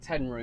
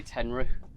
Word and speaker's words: Tenryu: thank you Well done, that's uh tell you what it's a whippy whippy rod How would you even say that? Tenryu? i pronounce it ten roo most people seem to say tenrou Tenryu bulldogs seven o